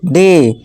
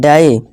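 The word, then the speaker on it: day: ठीक है दोस्तों, जैसे कि देखिए डे, नॉट डाई, play, ply नहीं प्ले, इसी तरह मे, नॉट मई, मई नहीं पढ़ेंगे इसे, मे पढ़ेंगे।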